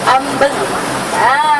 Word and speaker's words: ambeng: Walaupun ejaan dia AMBENG, ambeng, tapi sebenarnya disebabkan nasi ambeng ni dibuat daripada orang Jawa, jadi sebutan dia pun sedikit sebanyak daripada orang Jawa juga, seperti dipengaruhi oleh sebutan yang disebut seperti yang saya sebut ni, nasi ambeng.